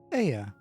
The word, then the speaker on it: Ea: When the vibration of vocal folds was still required to convey our thoughts and intention, Aya, I believe, was the pronunciation used when referring to our people.